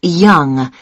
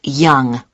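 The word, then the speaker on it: Yonge: Yes, it's Young. Young. That's... That's spelled Y-O-N-G-E. That's Young.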